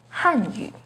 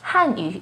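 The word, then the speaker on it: 汉语: embarrassment a quick example the peeing and tone for hand you is with a fourth falling tone on on Han hanu the p and tone for hanu has a second Rising tone on hanu they sound quite close right but hanu is Chinese language and hanu is actually Korean language don't get them mixed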